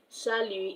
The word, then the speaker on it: salut: Salut is s a l u t. The t is silent.